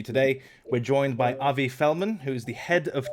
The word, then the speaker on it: Felman: episode for you today we're joined by avi fellman who is the head of trading at block tower i hope i pronounced your name and your company name in